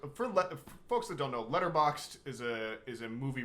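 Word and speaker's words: Letterboxd: on that the interview list is on my letterbox which is at h a y yes and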